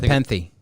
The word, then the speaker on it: Nepenthe: I don't want to pronounce it wrong. But Nepenthe.